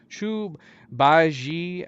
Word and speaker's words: Zhu Bajie: Chu Chu because that's that's how the second sister pronounced his name Chu baji um we had him